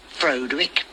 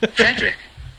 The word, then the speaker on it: Frederick: Do you also say Frodwick? No, Frederick. Well, why isn't it Frodwick Frankenstein? It isn't. It's Frederick Frankenstein.